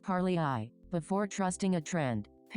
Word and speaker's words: Parlay AI: This is also the exact kind of situation where I use Parlay AI, pronounced par-lee-eye, before trusting a trend.